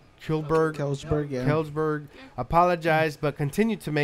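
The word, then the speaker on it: Kjellberg: Kelsberg, yeah.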